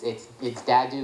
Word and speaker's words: Dahdouh: my last name is I'm Lebanese, so it's Dadou. It's DAHDOUH. There are a lot of vowels that are hard to pronounce.